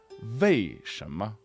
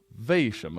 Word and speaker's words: 为什么: that often happens where people from the north, usually, they will pronounce W's or U's, right, as a V sound. So you might hear people say 为什么, 为什么, like for why. You might hear like a slight V.